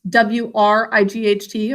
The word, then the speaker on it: Wright: very good absolutely their name is spelled like this w-r-i-g-a so it's like your right hand but with an with a w at the front tag do you love